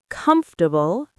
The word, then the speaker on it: comfortable: Comfortable, three syllables.